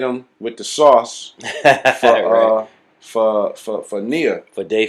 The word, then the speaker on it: Nia: It's called Nia.